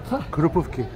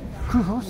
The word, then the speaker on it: Krupówki: Krupówki. Well, it's one of those words which you write and you pronounce it the same way, actually.